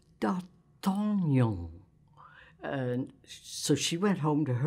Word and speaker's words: D'Artagnan: It's D'Artagnan." So I said to Peggy, "Well, you don't pronounce it darting on." She said, "You don't pronounce it darting on?" "No, you pronounce it D'Artagnan."